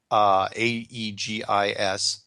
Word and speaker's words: Aegis: one of the more advanced, how do you pronounce that? Aegis ships? Yeah, Aegis. I think Aegis. It's Aegis, yeah.